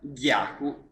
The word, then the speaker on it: Gyaku: perfettamente livello e anche in questo caso si pronuncia yaku mangia cool e non già come tanti vanno